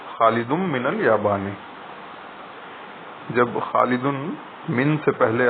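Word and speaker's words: Khalidun min al-Yabani: When Khalidun comes before min, the noon sound of the tanween on the last letter of Khalid is assimilated to mim, and we pronounce it as Khalidum min al-Yabani.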